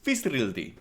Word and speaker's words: Fiðrildi: The title is, I don't know how to exactly pronounce that D kind of thing with it. I think it's like an S sound. So what I would say is Fiðrildi.